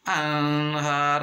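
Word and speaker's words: أَنْهَارٌ: hamzah, kamu sama ha, kita kasih contoh anhar, nun mati ketemu sama ha salah satu huruf idhar, harus dibaca jelas. Nggak boleh dibaca anhar, nggak boleh, harus jelas. Anhar an kan nun mati, berarti anhar kudu jelas.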